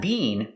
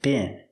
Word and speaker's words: been: Pronunciation, been. Use the short is sound like this is. Not been, but been. It could have been much worse.